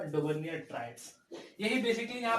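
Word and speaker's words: Döbereiner: तो यहाँ पे डॉबर्नियर का कुछ और भी प्रोनाउंसिएशन हो सकता है लेकिन हम डॉबर्नियर बोलते हैं तो तुमने डॉबर्नियर ट्रायड्स।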